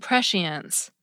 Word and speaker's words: prescience: Every now and then, some of them kept their C's, but also sound like SH words now. Omniscience and prescience.